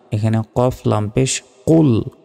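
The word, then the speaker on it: قُلْ: এখানে কফ লাম পেশ কুল কুল মোটাভাবে উচ্চারণ হবে।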